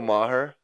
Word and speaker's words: Maher: Bill Maher. Maher. Yeah, I believe that's how you say it. It's spelled M A H E R I believe.